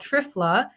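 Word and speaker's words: triphala: also for all three dosha and it's called trifla that's spelled t-r-i-p-h-a-l-a and it's made out of three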